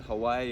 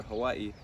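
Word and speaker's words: Hawaiʻi: most people pronounce it Hawaii or Hawaii but in Hawaiian language it's pronounced Hawaii so Hawaii is part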